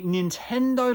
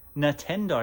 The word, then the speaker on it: Nintendo: like an absolute peanut I'm saying Nintendo instead of Nintendo at first I was like oh you know don't be a buzz kill ease up I don't mean to say it wrong but then you know what I'm like no it's called Nintendo not Nintendo and now listen when